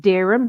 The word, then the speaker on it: Dereham: is in Norfolk it's near a place called Durham or Dereham if they were pronounce it it's about 15 miles